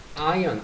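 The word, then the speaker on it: iron: 35mg의 철분을 아언 r이 묵음 발음 안 되죠. 아이언맨 알죠? 아맨.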